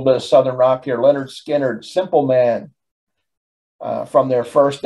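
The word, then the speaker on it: Lynyrd Skynyrd: with a little bit of southern rock here leonard skinner simple man from their first album pronounced leonard skinner uh this is a song depending on how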